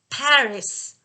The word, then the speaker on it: Paris: paris everybody please remember it's paris not party we don't say s in this case okay so everybody says party not paris yeah and then also